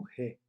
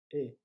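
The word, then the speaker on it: へ: Se você sabe hiragana, está vendo que aí está escrito um re. Mas quando é uma partícula, a partícula que indica a direção para a qual a gente vai, se pronuncia e, tá bom?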